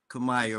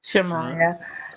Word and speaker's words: Shamaya: Did I pronounce it right? Kamaya, right? Shamaya. Huh? Shamaya. Hi, Shamaya. I was right there. Somebody. I'm Shamaya. Shamaya. Okay, okay. Hello, I'm Shamaya.